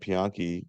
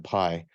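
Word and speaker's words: Piye: chart we're saying that pianchi conquered um he's Dynasty 25. he's also today they call him pie they've decided that the ankh is not pronounced as ankh it's pronounced as I so the pie or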